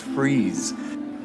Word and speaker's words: Fries: unexpected happen so what happened during the fries rebellion it's pronounced freeze we did not fight and bleed in their